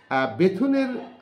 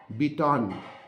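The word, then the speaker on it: Bethune: বিস্তারে উদ্যোগ গ্রহণ করেন বেথুনের আসল নাম হলো বিটন এই বিটন কে ভারতীয় মানুষ তারা তোমার বেথুন বলে উচ্চারণ করতো বিটনকে সেই থেকে তার নামের যে উচ্চারণের বিকৃতি সেই নামই তার নাম হয়ে যায় বেথুন দেখো হিন্দুরা কিন্তু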